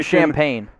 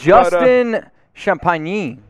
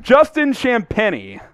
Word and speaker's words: Champagnie: Justin Champagne. Ooh, that was I get it? That's pretty close. Justin Champagnie. Champagne? Justin Champagnie. That wasn't even close.